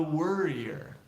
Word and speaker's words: worrier: But it's somebody who worries is a worrier.